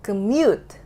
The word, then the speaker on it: commute: Commute. Commute. How? Commute. Nah, jadi di sini masalahnya adalah gue tadi nggak membuat syllable yang ini, yang mute-nya itu stronger than the other syllable.